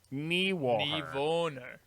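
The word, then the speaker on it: Niewöhner: So how would you say it? Niewohner. Niewohner. All right. Niewohner.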